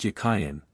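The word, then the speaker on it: Jachin: in Hebrew is Hebrew it was probably pronounced yayan and meant as a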